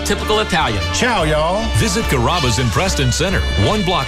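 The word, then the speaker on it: Carrabba: Growing up, people always had a hard time pronouncing my name. People chop it up pretty good. You know, Kaba, Kamaba, Kamba. It's a really easy name to pronounce. It's Kaba.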